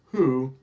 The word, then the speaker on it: Hu: wh and then there's the who hu which is pronounced who and it's a Mongolian